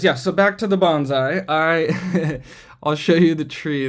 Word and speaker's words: bonsai: What is bonsai? I pronounce it like a Southern Californian. It's technically bonsai, and it loosely translates to tree in pot.